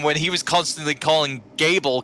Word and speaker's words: Gable: I didn't bother Kevin when he was constantly calling Gable Cable earlier.